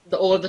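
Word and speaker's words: ث: So now what you should do is take your tongue out slightly, not all the tongue of your tongue. So slightly take it out, and then move it upwards to your upper teeth, and then now press it so that you can say the. Now press, and then say the word.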